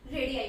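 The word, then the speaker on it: radii: जो रेडियस होती है, दोनों को हम रेडियाई बोलते हैं। कि 2 रेडियस को रेडियाई प्रोनाउंस करते हैं।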